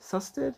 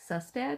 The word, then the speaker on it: Sustad: Sustaded. Is that how you pronounce that? Susad.